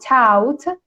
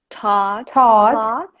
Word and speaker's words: taught: And similarly, the past form of teach is taught in American English, so it's not taught, taught.